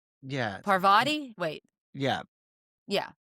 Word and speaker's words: Parvati: Oh, Parvati, like sorry. Parvati. Oh, yeah. Well, Like, but yes. but people call it poverty.